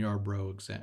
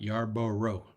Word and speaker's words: Yarbrough: let's take a Ryan Yarbrough as an example you're bro you are broke not Yarborough I gotta keep my I always want to add the extra syllable or extra o in there yard Burr Yarbrough or